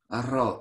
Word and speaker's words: arroz: Arroz. You have to roll the R, so arroz. Arroz. Arroz. Sí, cocino el arroz.